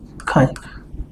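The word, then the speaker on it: χ: 250 250 m fraction symbol for mole fraction is Kai, how to pronounce it? Kai, but generally we read it as X.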